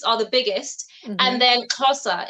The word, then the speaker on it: Xhosa: How do you pronounce XHOSA?